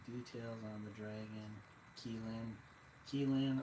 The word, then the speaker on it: Qilin: Qilin or Kirin. Chinese, or I'm not sure if it's Mandarin or Cantonese, but it's Qilin. There's no U in it for some reason. But in Japanese it's Kirin. So like in Japanese the R's are kind of sound like L's.